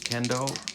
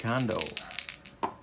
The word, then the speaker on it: Kondo: So Ford will face the top of Japan's order, Yamada, Kendo, and Suzuki.